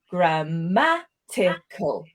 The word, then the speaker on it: grammatical: write it down and break down the 4 different syllables. Right, grammatical. We can hear the word stress is on the 2nd syllable there.